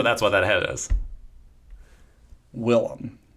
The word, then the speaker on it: Willem: Willem. Not William. Shut up. Willem. It rolls off the tongue that way. I know how it's spelled.